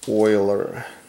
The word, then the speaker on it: Euler: by using euler diagram by the way it's pronounced euler so some of the quantifiable arguments that have